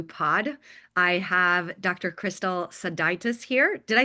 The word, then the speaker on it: Sodaitis: Crystal Seditis here.